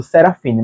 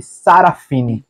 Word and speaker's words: Sarafine: falei o livro inteiro, eu tava lendo e falando Serafine, mas se escreve Sarafine, velha estúpida, esclerosada.